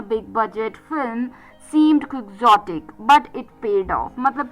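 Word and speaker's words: quixotic: क्यू यू आई एक्स ओ टी आई सी क्वग्जोटिक यानी कि एक एडजेक्टिव है जिसका मतलब मैंने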